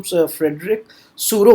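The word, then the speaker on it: Frédéric Sorrieu: तो कह रहा है कि ये इस नेम के प्रोनाउंसिएशन को भी आपको समझना पड़ेगा, इसको हम फ्रेडरिक सोरो बोलेंगे।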